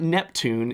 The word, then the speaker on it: NEPTVN: It's not Neptune, it's NEPTVN. NEPTVN is how you spell Neptune.